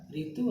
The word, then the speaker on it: ऋतु: तो हिंदी में रू नहीं कहते, रू जो उड़िया में हम उच्चारण करते हैं उसे हिंदी में कहते हैं री।